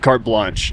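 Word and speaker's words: carte blanche: got Adam with us right now little windy cart Blanc or card how do you pronounce it cart blanch cart blanch yeah so the wind should should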